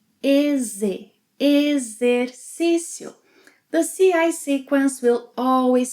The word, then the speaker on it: Exercício: X, and another vowel, X will sound as a Z. Exercício.